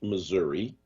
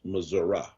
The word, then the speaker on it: Missouri: all know out here philly it is not pronounced missouri it is pronounced missouri and uh go to missouri and they will